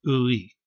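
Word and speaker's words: 의: Then you've got this ø and e sound, ø and e sound. Pronounced together, it's ui.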